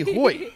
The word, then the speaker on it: Hoyte: Because it's very clearly Hoyt. It's Hoyt. Yeah. It's like an Irish cop name. It's pronounced as Irish, it looks.